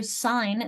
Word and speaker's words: sign: So sign, that silent G, think of signal or signature. You sign your signature. These words are related in meaning. Even if they're not related in pronunciation, meaning is going to override.